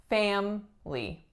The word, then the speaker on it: family: Number 10, the word is family, family. This one looks like it should be family, family. But the grand majority of people do in fact say family, family.